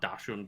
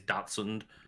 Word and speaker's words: dachshund: been told that a lot of british people pronounce it like dashan but i've been told like it is datsun and we just all say it wrong but